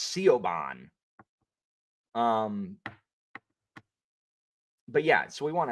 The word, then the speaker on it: Siobhan: Sao, S-A-O, Saoirse, or Saoirse if the E is silent. That is I know that's Siobhan, but it's Siobhan.